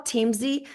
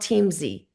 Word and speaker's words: Teamzy: It's called TeamZ, and it's not a referral. We don't get a dime for referring it, but it's called TeamZ.